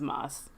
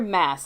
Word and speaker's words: Maas: can't be alone when it says Maus I hear mass a lot but I think Moss Moss is just just sounds better but honestly it's her name however she says it as how it's pronounced just to get it